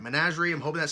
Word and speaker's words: Menagerie: saying it but the the most popular one was managerie so I'm hoping that's right managerie I'm hoping that sounds